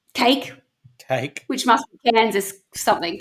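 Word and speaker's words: KAKE: The television station is spelt K-A-K-E, cake, which must be Kansas something, K-E, I don't know.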